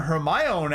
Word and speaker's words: Hermione: In a Hermione accent. It's Hermione, not Hermione.